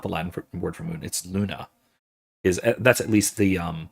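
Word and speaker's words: lunae: Luna is that's at least the um the nominative Lunai, which is how you'd pronounce that.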